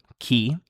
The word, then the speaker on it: chi: So, for example, chi, who, it means in Italian, you can see it's pronounced like a K, chi.